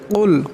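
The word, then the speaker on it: قل: কুল এখানে বড় কাফ, তা অষ্টাকে অল্প ঝটকা দিয়ে উচ্চারণ করতে হবে। কুল কুল এমন করে।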